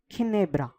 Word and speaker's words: Ginebra: got letter G followed by I that is pronounced as key he it is non D it is key for example Ginebra Ginebra means rum or brandy similarly we have